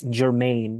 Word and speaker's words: germane: I think it's said as Germain, not Germany. Germain, like that.